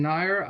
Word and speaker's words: Nair: I'm uh I'm Nair I'm the author of duckett and Dyer dicks for hire which also unfortunately rhymes with my last name which I I didn't